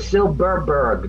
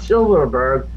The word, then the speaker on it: Silberberg: That's like I got a friend whose name is Silberberg. Not Silverberg. No V's, two B's.